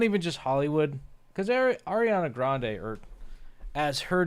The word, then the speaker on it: Grande: And, you know, they don't call her Grande. It's pronounced Grand.